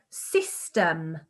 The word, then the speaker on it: system: science is the word system system system and there's the y again making what sound everybody tell me e the e sound well done oh here's